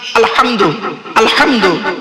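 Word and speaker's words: الحمد: দেখেন আলহামদুলিল্লাহি রাব্বিল আলামিন আলহামদু আলহামদু এই গলার ভেতর থেকে উচ্চারণ করবেন আলহামদু মানে হচ্ছে সমস্ত প্রশংসা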